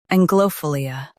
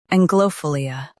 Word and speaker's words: anglophilia: Both US and UK have the same pronunciation of this word, ANGLOPHILIA. Now read the syllables shown on the screen naturally. Ang, glow, fill, ANGLOPHILIA. Stress ang and keep philia smooth.